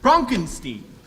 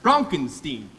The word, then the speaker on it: Frankenstein: gram for Dr Frankenstein that's Frankenstein my name it's pronounced Frankenstein if you say so